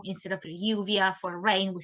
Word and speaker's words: lluvia: Also, the way we pronounce the double L, instead of lluvia for rain, we say lluvia or chuvia, which sounds very similar to Portuguese because we're next to Brazil, so there's a bit of influence there as well.